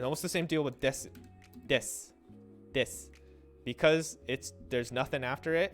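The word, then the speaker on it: です: reactivate your voice box, it's easier to say when you just say des. So desu is des, except when it's desu, because people want to pronounce it. A lot of times you'll hear it on the phone as desu. If you listen to the Japanese person talk on the phone, they're always pronouncing their u at the end.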